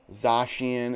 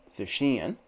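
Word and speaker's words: Zacian: i presume pronounce it zachin zashian is another pronunciation but i watched the trailer done by the japanese and that's how they pronounced it susheen of course pokemon's names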